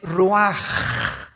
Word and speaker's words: ruach: El ruaj que se escribe r u a c h.